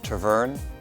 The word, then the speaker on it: Tervuren: They are one of the 4 varieties of Belgian sheepdogs, which are the Groenendael, the Tervuren, the Lakenois, and the Malinois.